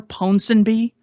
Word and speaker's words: Ponsonby: he mentioned Falsehood in Wartime by, I can't pronounce this name for the life of me. Arthur Ponsonby.